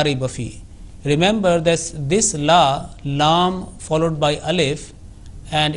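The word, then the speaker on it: لا: Remember that this la, lam followed by alif, and it is pronounced like la. And alif is a harfe madda, is a letter of prolongation.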